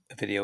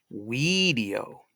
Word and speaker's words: video: So video, which is a Latin word in itself, it meant I see. But we can say video, not spell it that way. I'm just video, just phonetically spelling it out for you.